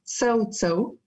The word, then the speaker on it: CaoCao: Alors oui, ça s'écrit KO, mais ça se prononce Cao Cao.